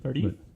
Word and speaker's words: Tardif: Tardif?